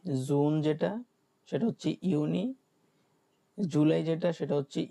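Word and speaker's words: Juni: তারপরে কি জুন যেটা, সেটা হচ্ছে ইউনি।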